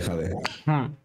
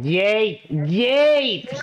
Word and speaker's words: Jay: Grande, jade. Será una broma, espero. ¿Cómo que jade? ¡Jay! Por favor, pronuncia bien su nombre.